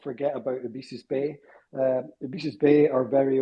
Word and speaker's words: Ebisus: Ibisu.